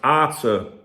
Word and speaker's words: Arthur: says his name is pronounced Arthur. I need all the help I can get, guys. That's what he says, because even the journalist says, is it pronounced Arthur, like in Catalan? And he said, yes, exactly. He laughs. After all this time, everyone finally says my name right.